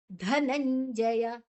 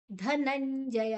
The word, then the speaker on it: ಧನಂಜಯ: ತೂಲ ತುನ್ ಪು ಹೇಳಬೇಕ ಅನುಸ್ವರದ ಉಚ್ಚಾರಣೆ ಧನಂಜಯ ಧನಂಜಯ ಧ ಮಹಾಪ್ರಾಣ ನ ಐನ ಹೇಳಬೇಕ ಕರ ಧನಂಜಯ ಜ ಅನುಸ್ವರದ ಏನಇರಬೇಕ ಜು ಚ ಛ ಜ್ಞತ ಧನಂಜಯ ಧನಂಜಯ ಓಕೆ ಅಥಚಿತ್ತಂ ಸಮಾಧಾತುನಶ್ನೋಷಿಮಸ್ಥಿರಂ ಅಭ್ಯಾಸಯೋಗನತೋ